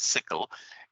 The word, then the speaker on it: SYCL: you can google sycl it's pronounced as sickle and there is a